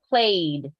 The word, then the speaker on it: played: me played play Ed how do you pronounce it only a simple D played played played so the